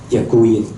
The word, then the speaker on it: děkuji: The pronunciation is děkuji.